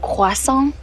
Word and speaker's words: croissant: It's actually pronounced croissant.